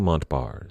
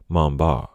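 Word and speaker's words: Montbars: his name that way he was French after all his last name was pronounced something a little closer to Mamba but in the interest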